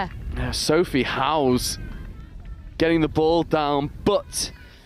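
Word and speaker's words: Howes: Sophie House getting the ball down. But it was Jose Josephine House and there is a difference. House spelled H O W E S. House spelled like a house.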